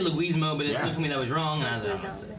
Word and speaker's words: Leguizamo: Luigi. Okay? Luigi. Yeah. Mario. Yeah. Leguizamo. Right. There you go.